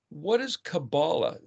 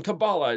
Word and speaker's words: Kabbalah: It's always spelled with a K, but it's actually the letter Kuf. If you look in the dictionary, Kuf, Bet, Lamed, Kabbalah. That almost sounds like where we get the word C-A-B-A-L, like a conspiracy theory sort of stuff.